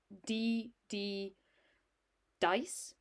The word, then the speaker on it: 3D Dice: So, like I said, this system is called 3D dice, pronounced DD dice, and one of the lovely guys there very nicely helped me when I was struggling to set this up.